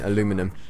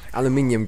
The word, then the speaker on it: aluminium: because I can't be dealing with these American pronunciations next I'll be saying aluminum and I'll have to just sh myself aluminium guys come on be of yourselves anyway I'm